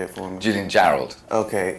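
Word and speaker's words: Jarrold: it for Me Julian Gerald okay it is like it sounds I was like you know that looks like Gerald but I don't caral I I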